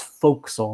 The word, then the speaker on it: fo'c'sle: pure air of the fo'c'sle deck it looks like it's spelled forecastle right but it's it's fo'c'sle that's like the nautical pronunciation he end quote he